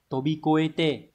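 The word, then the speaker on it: 飛び越えて: Câu 1 là tobikoete. Đây sẽ viết cách đọc ở đây nhá. Tobikoete.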